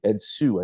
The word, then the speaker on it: Ed Hsu: controversial promoter, Ed Hsu, Ed Hsu, I think is how you say it.